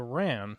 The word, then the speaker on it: Wren: This day has come to also be known as Day of the Wren, pronounced Day of the Ran.